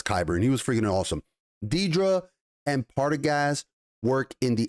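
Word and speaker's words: Dedra: We get to see Deidre, I believe her name is pronounced, the character's name is pronounced Deidre Miro, and Major Partagas, who is, by the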